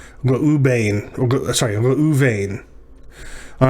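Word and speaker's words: רְאוּבֵן: u vane all right at the beginning of a word a dog is vocal so that's our first syllable the aleph followed by a shurek is our second syllable oo and then vein at the end is our third syllable right this is a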